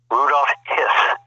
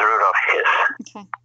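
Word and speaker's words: Rudolf Höss: the house with birkenau his name was uh rudolph hiss rudolph is no confusion with rudolph hess okay how do you say that not rudolph hiss well he was the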